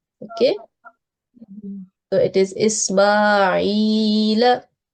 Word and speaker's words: إسماعيل: Ismail. Yes. So we should prolong this ya for 2 seconds because it is ya maddiya. Okay. So it is Ismail.